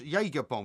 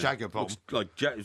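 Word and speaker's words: Jägerbomb: too much Jaeger bomb, it's called. Jaeger bomb, is it? It's not Jagger bomb. Looks like Jagger bomb to me. No, it's spelled Jaeger bomb.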